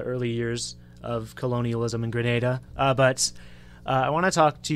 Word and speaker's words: Grenada: Yeah, I said Grenada instead of Grenada, my bad. We had a lengthy discussion before we went on air that it is pronounced Grenada, and it 100% is.